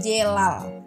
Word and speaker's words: celal: sama aja dan juga terakhir celal itu bacanya jelal jadi e bacanya gimana Yang